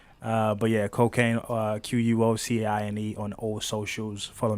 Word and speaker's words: Quocaine: Quocaine. If you're not comfortable with saying cocaine, you could just say. But yeah, Quocaine, Quocaine on all socials.